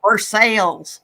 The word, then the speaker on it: Versailles: Like in Kentucky, actually, there's a Versailles. I mean, that's how it's spelled, but they call it Versailles.